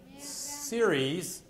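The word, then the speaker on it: Ceres: Mercury Venus Earth Mars series and this is how you pronounce it s e r i s Jupiter Saturn Uranus Neptune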